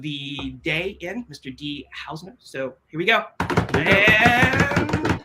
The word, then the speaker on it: Hausner: So I want to welcome you, Dee, and it's Hausner, right? That's the correct way to say it, Dee Hausner.